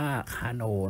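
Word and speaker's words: Carnot: ครับ ว่า จะ จัด อัน นี้ อ่าน ว่า คา โน นะ ไม่ ใช่ ภาษา อังกฤษ นะ อัน ว่า ค่า No เขียน ทอ ทหาร การันต์ อย่าง นี้ นะ นะ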